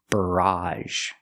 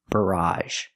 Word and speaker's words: barrage: is barage very similar barrage the first sound is R like Burger br br and the a sound at the end barrage it's a countable noun